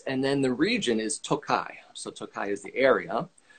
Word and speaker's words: Tokaj: this doku and not this noko is the pronunciation of the estate and then the region is tokai so tokai is the area but then speaking